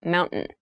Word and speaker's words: mountain: top keep in mind when you pronounce this word in fast speech it sounds like mountain the t sound is reduced the little town was